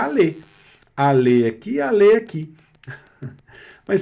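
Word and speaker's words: allez: Olha só, A pronúncia do aller conjugado na segunda pessoa do plural, que vai terminar com EZ, tem exatamente a mesma pronúncia do verbo no infinitivo, porque o verbo no infinitivo também termina com ER. Então fica aller.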